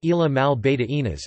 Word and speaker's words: Islas Malvinas: The Falkland Islands, Spanish, Isla Malvinas, pronounced Isla Mal Beta Inas, is an archipelago in the South Atlantic Ocean on the Patagonian Shelf.